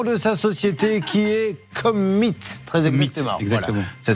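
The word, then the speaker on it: Commeett: correctement le nom de sa société qui est Commit. Très exactement. Exactement. Voilà. Ça s'écrit C-O-M-M-E-E-T-T.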